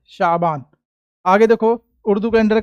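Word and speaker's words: شعبان: का आठवां महीना उर्दू कैलेंडर का आठवां महीना शाबान क्या पढ़ेंगे शाबान ठीक है इसी महीने की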